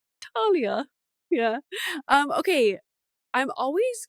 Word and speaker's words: Thalia: um it's probably because we grow up with French yeah so that's very like a French thing not like pronuncia the H like Talia you know so you